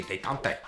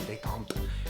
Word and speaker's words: détente: It's actually a French word. I used to say détente. I sound like a Native American doing that. The actual word détente, I say it like a Frenchman, détente, is a cooling off